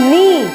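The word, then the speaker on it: knee: Next है नी, इसमें के साइलेंट है, इसको हम क्या बोलेंगे, नी यानी कि घुटना, नी।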